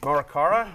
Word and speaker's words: Morikawa: Jason Tay and Morikawa. How do I pronounce Colin Morikawa. Morikawa. Morikawa. There's a W.